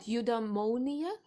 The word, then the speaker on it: eudaimonia: Eudaimonia? Did I say it right? Yes, it's eudaimonia. Eudaimonia. Greek etymology.